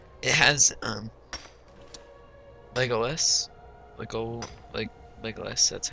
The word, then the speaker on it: Legolas: It has Legolas, Legolas. That's how you pronounce it.